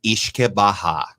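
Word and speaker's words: uisce beatha: Yeah, so it actually goes back to an old Gaelic word that's pronounced Ishke Baha, and that's where the root word of whiskey comes from.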